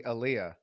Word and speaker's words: Elia: Well, it's actually Aliyah.